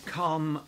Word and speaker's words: calm: So calm and farm rhyme exactly. There's no R in calm. We don't pronounce the L and there's no R effectively in farm.